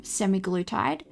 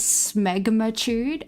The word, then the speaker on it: semaglutide: Well, the pharmaceutical name for it, like the chemical name for it, is semaglutide. But because of my dyslexia, I was reading it as smegmatude. I thought it was called smegmatude.